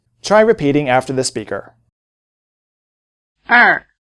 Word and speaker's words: 二: 二二二 In addition to syllables in the shape ER, there are many